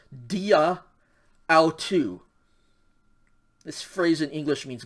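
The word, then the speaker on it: αὐτοῦ: mark then tau omicron upsilon this word is pronounced so together this says dia autu this phrase in english means by him all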